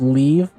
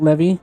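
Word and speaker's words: leve: mounts to ride pronounced leave so not levy leaves did you google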